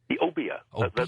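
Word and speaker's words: Obeah: Santeria and, how do you pronounce that last one? Obia? Obia.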